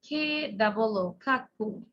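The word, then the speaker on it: cuckoo: When you write down, you have to pronounce like C-U-C-K-O-O, Kakku. Sings, S-I-N-G-S, sings.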